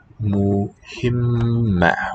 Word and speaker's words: مهمة: Muhimma with the doubled M there.